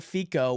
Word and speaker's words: FICO: I didn't realize it was FICO. I was thinking Rico because we've been on kind of drugs and so Rico is our ICO. FICO was how I would have pronounced this with an F, but it's FICO credit score and my goodness there's